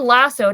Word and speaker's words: Lassoed: How do you say it again? Lassu. Yeah, I'm saying lassoed, but I I don't know. Maybe it's just an Australian thing. Maybe I'm wrong. Maybe I'm saying it wrong and I'm just No, I did I watched like an interview with Llaya Sage and she said it like lassoed as well.